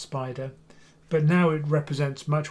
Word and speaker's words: SPDR: It stands for SPDR, it's pronounced Spider, but now it represents much wider family of funds other than SPY, which was the original S&P 500 tracker.